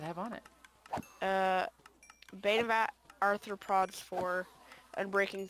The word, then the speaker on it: arthropod: I have vein of anthropology always say that wrong arthropod yes you didn't used to be an to the prog no I just always said it wrong sorry okay so now